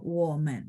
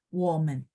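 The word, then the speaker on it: 我们: 我们、 Ya, 我们 ya. 我 nya ada 3, turun. 我们.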